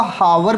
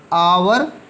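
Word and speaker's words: hour: S2 यार आप इसको हावर पढेंगे तो जी हां वर लेकिन यह तो रहा होता है इसको आप कैसे पढ़ते हैं आवर या आर कि फैंस साइलेंट रहता है यह चीज यह जो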